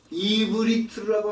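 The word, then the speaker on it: עברית: 근데 히브리어라고 하지 않습니다. 이브리트라고 합니다.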